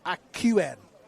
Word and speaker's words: Akien: He said it's Jock like Scotland and Akien. So like the word Q.